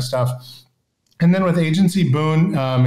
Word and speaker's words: Boon: and then with agency Boone um it's agency Boone b-o-o-n which is an English word that means a timely gift or blessing but it also is the pronunciation of the word good in Romanian um and they can